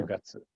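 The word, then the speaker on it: 九月: 9 月 Kugatsu.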